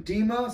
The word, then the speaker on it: DMA: Discord group chat called Team DMA, pronounced Team DEMA, stands for Team Dark Magic Attack.